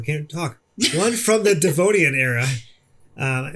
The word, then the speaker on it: Devonian: talk one from the devonian era um am i even saying that right i don't know i that's how i would pronounce it because it looks like devin i wanna learn more